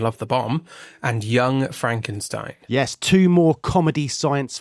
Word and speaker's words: Frankenstein: Frankenstein. That's Frankenstein. I beg your pardon? My name. It's pronounced Frankenstein.